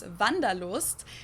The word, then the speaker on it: Wanderlust: that we pronounce Wanderlust, and it's literally the desire to wander.